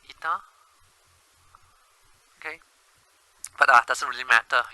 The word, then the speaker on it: eta: It's called eta. Pronounced as I-T-A, eta.